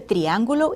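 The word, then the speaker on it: triángulo: did you look for the shape of the triangulo in your classroom and at home since our last lesson good B let's practice pronouncing triangle in Spanish again listen triangulo triangulo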